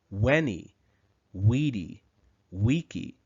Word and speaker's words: veni vidi vici: then we should say when he we D we key the letter v in classical Latin was actually pronounced more like a w we can see the